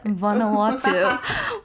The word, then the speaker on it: Vanuatu: Vanuatu.